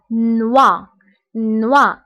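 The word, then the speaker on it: noix: فقلنا ان او اي كتقرب وا. دونك هنا نوا. بالنسبه هنا اكس لا ننطقها.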